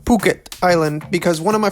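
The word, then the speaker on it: Phuket: went to P Island and we rode from Pucket Island actually it's pronounced puket Island because one of my friends that's a local there actually corrected in my grammar be careful when going out and pukit because there is a lot of adultery activities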